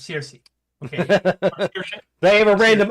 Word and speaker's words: Saoirse: I cannot pronounce anything based on just like looking at the letters. What But was it's that? Circe. Yes, it's Circe.